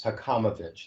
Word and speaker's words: Hakamovich: name is Hakamovich. That's how it's pronounced.